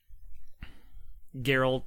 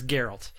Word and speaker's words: Geralt: gonna try to emulate Gerald or Gerald's voice I'm pretty sure it's Geralt I think they pronounced